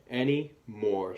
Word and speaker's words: anymore: The A in any is kind of tricky because it sounds like eh instead of ah. It's not really Annie. Okay? So any and then more. More sounds exactly like it looks. We have the silent E making the O say O. Okay? Any more. So the silent E is tricky. That A is tricky. And in the middle of the word, that Y is tricky.